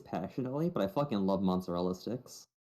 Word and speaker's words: mozzarella: How do I spell mozzarella? Mozzarella. Yes. You're saying it the American way, you Philistine.